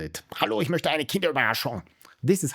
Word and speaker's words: Kinderüberraschung: In German it's Kinderüberraschung. That's how you say it. Also when you order it. Hallo, ich möchte eine Kinderüberraschung.